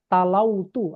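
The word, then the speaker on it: تلوت: Tala ini bukan pakai tala begini. Tala itu berarti gini. Afwan, anak yang salah. Tala itu begini tala. Tala. Nah, dia makanya dibacanya talautu, afwan. Bukan tala itu, talautu, afwan. Tadi salah. Talautu. Ya. Talautu.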